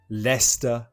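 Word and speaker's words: Leicester: the underground to where leester Square the pronunciation of that is difficult Lester Square when we got down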